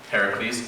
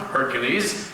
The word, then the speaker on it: Heracles: that's his Roman name you see the Romans mispronounced Heracles as Hercules well that's wrong simply and completely wrong it is not Hercules there's heres I should